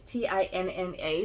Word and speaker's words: Tinna: Lord help me if I have said her name wrong. It's Tinna, so that's how I think it's supposed to be.